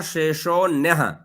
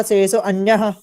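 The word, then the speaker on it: शेषोऽन्यः: पूर्व संस्कार शेषो अन्यः। फिर से पुनर्। विराम प्रत्याभ्यास पूर्व संस्कार शेषो अन्यः। हाँ, अब जैसे शेषो अन्य कहते हैं ना, तो शेषोन्य कहना है इसको, मतलब ये आपको उच्चारण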